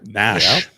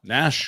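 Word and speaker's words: Gnash: of the Predator's mascot Nash his name bar is g no G there's G but no you don't say it pronounce silent is what they call it so I'm G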